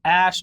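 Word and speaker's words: Æ: a12 musk or X a sh arc angel apparently if he at the 8 E thing is pronounced ash and people seem to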